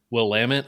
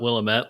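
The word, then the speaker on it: Willamette: my brother that uh it's actually pronounced will lamit pops and not will a met like we said about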